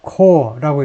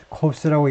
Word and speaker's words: corps: 그 elite 정예 commanders 특수부대가 아니고 정예 특수부대가 아니라 그 다음에 이거요 core라고 읽어야 됩니다. S를 발음하지 않고요 corps 하면 시체가 돼요. 시신이 됩니다. corpse라고 읽는 게 아니고 core라고 읽어야 돼요.